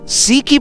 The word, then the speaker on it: Sikhye: Sikhye, pronounced shee-kheh, is a traditional Korean sweet rice drink that has been enjoyed for centuries.